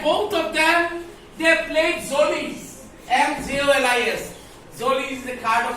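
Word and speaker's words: Mjölis: Zolies. M is silent.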